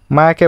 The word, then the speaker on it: মায়া: মায়াকে বলে, হে মেয়া, হোয়াটসঅ্যাপ। নিজের নাম কেমন ভুল উচ্চারণ শুনে মায়া বিরক্তি মুখ কুচকে বলে, Ethan, my name is মায়া, নট মিয়া।